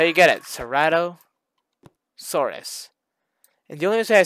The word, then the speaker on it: Ceratosaurus: So first, Cerato. That's not how you say it. It's called Ceratosaurus, right?